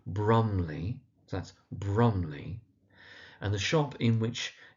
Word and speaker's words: Brumley: The place it's set is called Brumley, so that's Brumley.